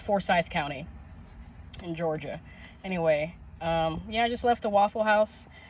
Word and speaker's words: Forsyth: It's Forsyth County, Forsyth. Forsyth just sounds better to me, so I've been saying Forsyth. I think I might still call it Forsyth, but no one corrected me. It's Forsyth County in Georgia.